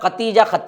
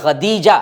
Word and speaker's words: خدیجہ: خدیجہ بنت خویلد ہے۔ بہت سے لوگ اس کی تلفظ میں بڑی غلطی کرتے ہیں، سب ختیجہ کہتے ہیں، تا نہیں ہے بلکہ خدیجہ ہے رضی اللہ عنہا، اور